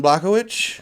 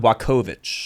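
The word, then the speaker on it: Jan Błachowicz: next one's the fatty john blockowicz or say his name right mr news john blakovich there we go got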